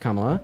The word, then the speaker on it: Kamala: doing yeah so specifically her name's pronounced Kamala then specifically the answer